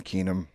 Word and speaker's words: Keenom: Devon Keenom.